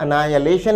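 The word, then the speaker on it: annihilation: विद्यार्थी उच्चारण पर ध्यान दें, उच्चारण है एनायलेशन।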